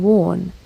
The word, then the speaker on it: Wawen: Pronounced Wootton Wawen, the church is a dash of wildness in urbane surroundings.